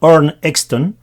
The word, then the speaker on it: Arne Exton: creó que se llama nn exton creo que se pronuncia así en sueco el nombre en español